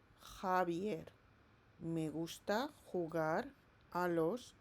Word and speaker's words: Javier: Remember this J, it sounds like H in English. So how are you going to pronounce the name of this boy? Correct. Javier. Javier.